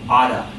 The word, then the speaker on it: ought to: First off, not related to question asking, but the term ought to, in pronunciation, someone might say oughta, okay?